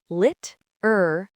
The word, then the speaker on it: literally: Number one, four syllables. Literly. Don't forget that middle uh sound. Number two, use the American flap t to make it sound like lur.